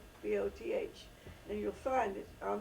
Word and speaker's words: Rehoboth: was a place called Rehoboth. Rehoboth, I believe, is the correct pronunciation. It's a biblical name, Rehoboth, and you'll find it